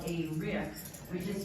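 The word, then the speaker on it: riq: Banjuni and MJ are going to next play what you would call a tambourine, but what we call a rick, which is spelled R-I-Q or R-I-K, and sometimes the Q is doubled because why not?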